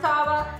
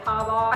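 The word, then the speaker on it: Tarver: it actually is pronounced Tava, because it's T-A-R-V-E-R. I'm just gonna say Tava. I think it's a short on Trevor, but a future version of Trevor.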